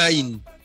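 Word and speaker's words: עין: Voilà, c'est un Aïn. C'est une lettre silencieuse.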